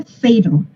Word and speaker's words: fatal: Pero esta que tiene dos sílabas, ya no sonó igual, ¿verdad? Ni estas chiquitas tampoco sonaron igual. Entonces esta yo tengo que saber, aquí va el acento, tengo que saber ciertas reglas y que se pronuncia fatal. A fat rat and a cat have a fatal match. Entonces no es para nada, aunque se vea la misma letra, no suena igual.